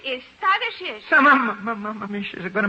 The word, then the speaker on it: Tadeusz: The name is Tadeusz. So, Mamma, she's going to make a trouble. Yes, young lady? In Poland, we say his name Tadeusz Kosciuszko. But in America, Tadeusz Kosciuszko is fine.